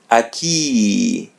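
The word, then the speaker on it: aqui: As you see, there's a letter A in the beginning. So, we're going to pronounce a. Don't say a, say a. And as you see, there are two vowels coming together, u and I. So, remove the first one. It would be a key.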